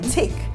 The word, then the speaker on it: take: So when you put when a word has the magic E, like take, then it is not tack. Yes. Do you understand? It changes it to the letter name, which is A in the pronunciation.